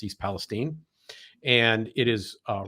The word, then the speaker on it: East Palestine: did not know that that's how that was pronounced I would have said Palestine but it's East Palestine and it is uh right there on the